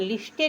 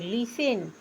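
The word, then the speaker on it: listen: स्पेलिंगों को आपको रटना एल आई एस टी इ एन लिस्टेड नहीं पढ़ोगे लिसन लिसन मींस सुनना टी साइलेंट है इसके बाद ओ एफ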